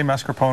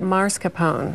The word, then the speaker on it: mascarpone: good to see you did I say mascarpone right because I know everyone says it wrong yes you did I did but when you say it right people think you're wrong I know because most people say it marscapone either way which is actually not correct well let's talk